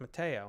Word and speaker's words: Matteo: like no it's but it's an italian name and it's pronounced mateo and they're like no